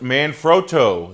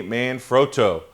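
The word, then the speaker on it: Manfrotto: learned at the show number one it is pronounced man fro that is the proper pronunciation for the uh tripod and lightstand Company man froto uh one other thing that I learned from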